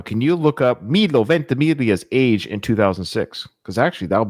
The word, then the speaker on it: Ventimiglia: I'm so proud I know how to pronounce his name. Milo Ventimiglia.